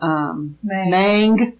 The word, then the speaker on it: Mang: So we go in and we meet Aunt Wu's assistant, whose name is Mang, which is rhymes with Aang.